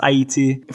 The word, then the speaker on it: Ayiti: They chose the name Haiti um which in in both French and Korean is pronounced Aayiti from the indigenous um Arawakan name uh which I I believe means yeah land of mountains in in Awok.